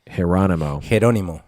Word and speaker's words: Geronimo: So think Geronimo, but with a J, pronounced Geronimo.